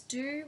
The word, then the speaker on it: Dhu: D-H-U, Do, that's what I believe.